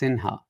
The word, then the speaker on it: Sinha: So so for example, the name Sinha, it actually is what you would call Simha today, but it's really pronounced Sinha.